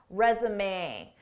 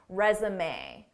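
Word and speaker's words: résumé: Notice how the end is pronounced, resume. This isn't typical English pronunciation because this word is borrowed from French pronunciation, resume.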